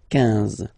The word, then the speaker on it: quinze: Same thing here, U doesn't exist, so quinze, quinze, quinze, alright? IN, nasal, so it's un, quinze, quinze, okay?